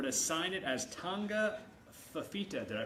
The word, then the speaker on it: Fifita: you in silver to sign it as tonga fifita did i pronounce that right yes perfect there you go